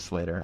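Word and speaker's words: Sleater-Kinney: No, Slater. I think the correct pronunciation is Slater. I've been saying it wrong.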